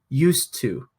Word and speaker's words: used to: to which is different it sounds like used to without the d and it does in our pronunciation we'll just say you used to even though we write